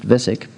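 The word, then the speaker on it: VHSIC: as the visig program v h sic which stands for very high speed integrated circuits pronounced visic the vc program have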